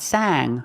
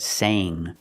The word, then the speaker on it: sang: Use the long A sound. Sang. Not sang, but sang.